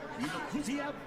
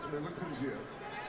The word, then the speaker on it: Melikuziev: Hey, Jimmy Lennon Jr. says it's Melikuziev, then that's how we say it. That's where it is, Melikuziev.